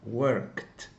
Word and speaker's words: worked: We say worked because the final sound, końcowy dźwięk, is k. So we pronounce like T, worked.